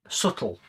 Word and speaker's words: subtle: It's very subtle with a silent B.